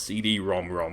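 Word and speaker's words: CD-ROM²: games on the PC engine side yes it's pronounced CD ROM ROM I only learned that recently anyway I should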